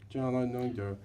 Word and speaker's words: John Lloyd Young: John Lloyd Young.